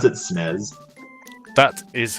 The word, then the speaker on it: SNES: Did you just pronounce it SNES?